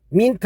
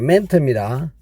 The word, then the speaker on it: meant: 여기서 왓은 관계 대명사 왓 의미는 뭐 하는 것이고 멘트란 단어 발음 민트 하지 않도록 합니다. 멘트입니다.